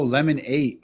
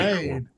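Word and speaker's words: Lemon8: Oh, Lemon 8. Oh, okay. Oh, That's it's not very lemonade. It's lemon 8. Yeah, Lemon 8. Lifestyle community. Ooh. That's what the app is called. Lemon 8 Lifestyle Community.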